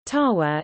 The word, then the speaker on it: Ottawa: Ottawa, listen, French pronunciation, Tawa, is the capital city of Canada.